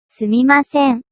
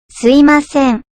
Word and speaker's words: すみません: It's correctly say. すみません、 But you can also say, すいません。 because we Japanese often use it that's easy to pronounce.